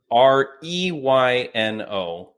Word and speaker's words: Reyno: Please welcome FLA's Breakout Fighter of 2023, Reyno. I appreciate the introduction. There it is. And, for those listening on audio only, you are at _Reyno on Instagram, but it is Reyno.